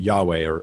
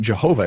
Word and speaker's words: Yahweh: Yahweh, or it's pronounced Yahweh. But it definitely wasn't Jehovah. It might've been Yehovah, but it wasn't Jehovah because there's no J in Hebrew. There's just no J sound in the language at all.